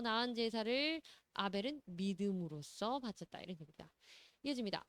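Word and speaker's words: Abel: 자, 이때 able이라고 발음 한번 해보실까요? able. able. 그래서 able은 아벨입니다. 아벨.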